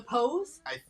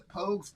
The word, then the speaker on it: Pogues: The Pose? The Pogues. P-O-G-U-E-S. I think.